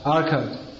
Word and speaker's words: Arcot: How do you pronounce it? Arcot.